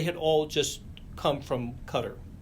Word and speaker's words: Qatar: And Qatar, I should The rest of my life I will not know how to the correct pronunciation of of that country. We even asked them. And And there were And the agreement there was that it was sort of a hybrid of Cutter and Qatar that sounds a lot more like Qatar.